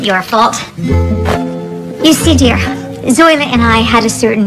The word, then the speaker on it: Zoila: Now, Zoila. Actually, it's pronounced Zoila.